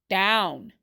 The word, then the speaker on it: down: That's right, down. The OW is pronounced as ow. Down.